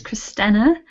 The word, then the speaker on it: Christina: The pronunciation of my name is Christina, so it's a flat E on the end.